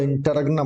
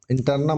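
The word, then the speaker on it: interregnum: तो गुप्त काल अशोक के काल में जो समय हुआ वह इंटरगनम हुआ। इंटरनम होता है। यह जी साइलेंट होता है।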